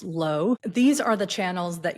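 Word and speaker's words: 络: It's spelled L UO, but pronounced low.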